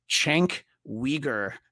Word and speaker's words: Cenk Uygur: Cenk Uygur, not the way it's spelled.